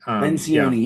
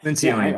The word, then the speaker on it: Lencioni: And Patrick, how do you pronounce that guy's name? Patrick Lencioni. Lencioni, yeah. Lencioni.